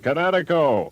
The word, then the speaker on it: Kinetico: remembered kinetic as in kinetic energy with an O on the end. Kinetico.